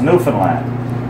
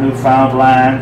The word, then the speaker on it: Newfoundland: and the Newfoundland India is beer and his pronounced Newfoundland not Newfoundland or the thin line Newfoundland is the oldest